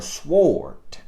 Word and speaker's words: sword: giving he said daddy it's not sword just because it got a w in there the w is silent y'all forgive i'll be